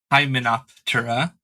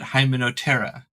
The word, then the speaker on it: Hymenoptera: Don't call it Hymenoptera. It's call it Hymenoptera. So you don't pronounce or very slightly, very mildly pronounce the P, and it totally changes the flow of the words.